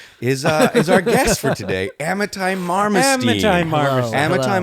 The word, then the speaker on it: Amitai: our guest for today, Amitai Marmorstein. Amitai Marmorstein. Hello. Amitai Marmorstein, welcome to the pod. and I believe it's Amitai, just to be clear.